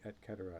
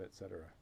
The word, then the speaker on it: et cetera: I'm switching to say et cetera instead of et cetera. That's the proper pronunciation. Always everybody says et cetera.